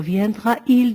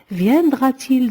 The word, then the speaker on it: viendra-t-il: On ne peut pas dire viendra-il demain? On rajoute un T entre viendra et le sujet il pour dire viendra-t-il demain?